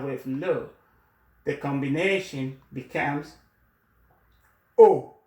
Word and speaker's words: au: le, the combination becomes O, A-U, A-U, and it's pronounced O, O, O, O, A-U, A-U, is pronounced O, O, O in French.